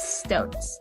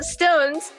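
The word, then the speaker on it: SixTONES: their name yeah so stones you spell it six tones and it's just like one word together and then the tones part is all capitalized and so it's a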